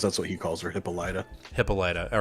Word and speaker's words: Hippolyta: Because I'm a Ted Mosby, I had to find out what was the right way to say it, and it's Hippolyta. Hippolyta, not Hippolyta. Which I really want it to be now. That sounds way better, but it's Hippolyta.